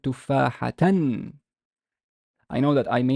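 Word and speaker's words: تفاحةً: So how would I pronounce it? That's one, is I would pronounce it tufahatan.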